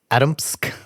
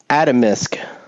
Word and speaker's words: Atomsk: Atomsk. Atomisk. Atomisk. It's not it's spelled Atom, Atomsk.